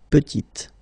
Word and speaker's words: petite: And then when you add this E at the end, you get the sound T, T, petite.